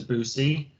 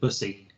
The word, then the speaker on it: Bussy: Yeah, I saw the Briscoes lost the GCW tag titles to Boosie. That's not how you pronounce it. Bussy. Yeah, Bussy.